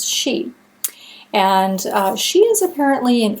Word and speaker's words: Sidhe: she actually says that the pronunciation is she and she is apparently